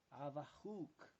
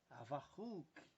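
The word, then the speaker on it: חבקוק: Abacuque em hebraico é Avahuk. Avahuk é dessa forma que se pronuncia em hebraico.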